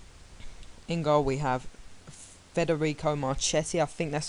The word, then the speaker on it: Marchetti: In goal we have Federico Marchetti. I think that's how you say his name. Let me just check here. And yeah, it's Federico Marchetti.